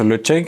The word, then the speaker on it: Ledaig: déguste maintenant un whisky le check de 10 ans le check ça s'écrit le deck led a I g et ça se prononce le check c'est une très très